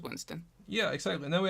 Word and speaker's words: WIINSTON: I saw it was 2 I's, and I wasn't sure how you pronounce it, but I was pretty sure it was Winston.